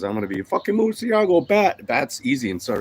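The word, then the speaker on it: Murciélago: Try to say it like in French, but it's actually Murcielago.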